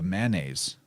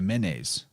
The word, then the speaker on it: manes: They called it the manes or the menes, and that's what Hermes was the guide to the manes. And interesting, because that's spelled the same as manes, like back to that horse symbolism.